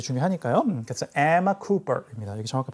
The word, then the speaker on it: Emma: Emma라고 읽지 마시고 Emma. Emma Stone. La La Land 나오는 거죠. 라라랜드. 네. 정확하게 영어로 그렇게 발음하죠. La La Land. 영어는 한 단어, 단어가 겹쳐도 마찬가지지만 자음이 연속되어 있을 때 그 자음을 두 개로 발음하지 않아요. 그게 규칙입니다.